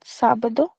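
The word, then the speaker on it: sábado: Sabadu that is.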